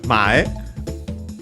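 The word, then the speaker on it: 前: Then we have mae, should be accented on the first syllable, by the way.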